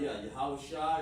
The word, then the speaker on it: Yahushua: Bashem, Yahushua, Yahushua is his name. That's how you pronounce it.